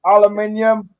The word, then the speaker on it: aluminium: Hollow aluminum, fellas. Yep. Diamond plate aluminum. Jesse, it's pronounced aluminium.